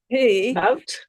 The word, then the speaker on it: nowt: I don't know how you would interpret the umlaut over the O in NOWT. Note. It is note, like musical Interesting. note. It would be Interesting. nout if it were Yorkshire, but in Ilson it's note.